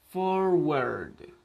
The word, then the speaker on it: forward: Entonces, tenemos, por ejemplo, forward. ¿Por qué? Porque sigue la regla. La WA está antes de RD, entonces se pronuncia word. En conjunto, forward, que significa delantero, adelante.